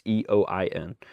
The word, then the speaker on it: Eoin: I think it's Owen Tracy. It might be Ian. Because it's spelled very different than what I'm used to, but it is very much a Irish spelling of the name. It's Eoin.